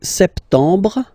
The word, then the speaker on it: septembre: So, septembre, septembre, septembre. Remember this E-M en septembre. Br, br. You don't insist on the final E.